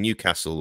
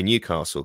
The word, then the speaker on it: Newcastle: Now, being from the south, if I keep saying Newcastle all the time, that's fine, but my intuition is to say Newcastle because that's my accent.